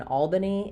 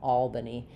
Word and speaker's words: Albany: But in Albany it says the a vowel. A like in in the word all. Albany. And then the letter a is going to be awah sound. So, Albany with all stressed.